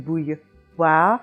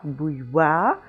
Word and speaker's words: bouilloire: You have it in moi, and here we have it in bouilloire, bouilloire, and it takes two phonetic symbols to make that sound, the W, which you think would be the W, and the A.